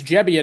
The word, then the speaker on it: Gebbia: By the way, it's I've just learned it's Gebbia, not Gebbia. So unless he's pulling a fast one on me, we all have to correct our pronunciation.